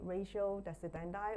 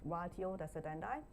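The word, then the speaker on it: ratio decidendi: Ratio desendi or somebody will pronounce this wio desendi.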